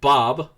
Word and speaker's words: Bohqbe: magistrate with their guide, Bob, which is spelled, for those keeping score at home, Bohqbe. Mind you, the Q and the E are silent.